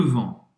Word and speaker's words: vent: Não pronuncia o T no final. Vent.